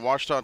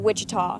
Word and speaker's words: Ouachita: searching for Baptist University back in Texas everybody pronounces it witch but really it's was was was how would you pronounce it was